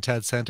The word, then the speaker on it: Tad Santa: Yeah, rhymes with Sad Santa.